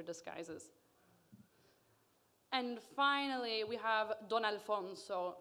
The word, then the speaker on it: Don Alfonso: and finally we have don alfonso pronounced don kind of like dusk and don and then alfonso he is our base